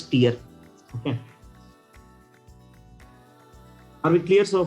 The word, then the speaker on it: tier: It should be pronounced as tier.